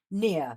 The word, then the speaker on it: Nia: So you're playing Nia. Is that the right pronunciation? Yes. Yeah.